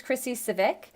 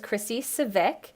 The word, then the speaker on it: Scivicque: complicated and intimidating but it's actually very simple it's pronounced similar to a Honda Civic which is right there in the middle so just think about that and ignore all the extra letters this is a picture